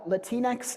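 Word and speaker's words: Latinx: So, this is coming from words where uh latinex is how it's pronounced by English speakers.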